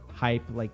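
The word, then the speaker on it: HYIP: It's called the High Yield Investment Program, not spelled like hype, spelled like hype like this.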